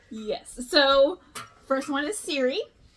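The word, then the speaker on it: Siiri: So, first one is Siri. It's spelled S-I-I-R-I.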